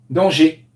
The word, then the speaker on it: danger: G comme si c'était un et accent aigu danger donc toi tu le prônes tu sais tout tu disais toujours danseur danseur dans ces dangers et oui une erreur qui est revenue quatre